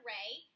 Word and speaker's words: array: the definition of an array we also talked about how you pronounce the word array so it's array like a ray of sunlight except it's pushed together to make one word so a ray can